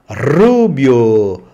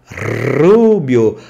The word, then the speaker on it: rubio: é cabelo é pelo Rubio Rubio pronúncia forte vibrante Rubio and an Inner